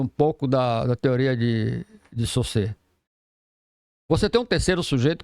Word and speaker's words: Saussure: Mas eu diria o seguinte, você tem um tal de Ferdinand de Saussure, que é a pronúncia, escreve Saussure. Até a pronúncia do cara é complicada, por isso você não encontra muita referência.